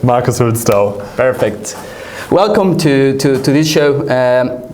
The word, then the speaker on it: Hülsdau: Welcome, Marcus Hülsdau. Is that the right pronunciation? Yes, it is correct. Marcus Hülsdau.